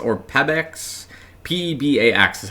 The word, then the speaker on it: Pebax: the shoe, which I believe is labeled the Pebax or Pebax. P-E-B-A-X is how we spell it.